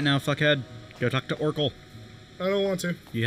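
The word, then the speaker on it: Orcal: It's O-R-C-A-L. Orkul. Yes, Orkul.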